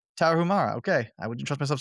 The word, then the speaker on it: Tarahumara: It's Tarahumara. Tarahumara, okay.